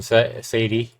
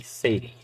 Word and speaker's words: Sadie: the memory you're welcome Sadie you're welcome Sadie yeah not Sadi Sadie chapter one complete all